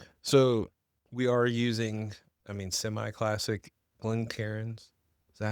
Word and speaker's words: Glencairn: So we are using, semi-classic Glencairns.